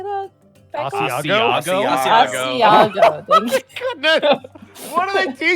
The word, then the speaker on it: asiago: Asiago? Asiago. Thank you. Goodness. What do they teach you in Canada? We don't have to, guys. We don't have to try. Leave me alone. Asiago.